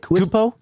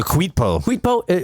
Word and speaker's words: Kuitpo: She's like texting him like, "Hey, can we meet up at how do you say it? Kubito? Kubito. Is it? Kuitpo? Oh, the Kuitpo. Let's Wow, I've been reading that wrong the whole fucking Let's time.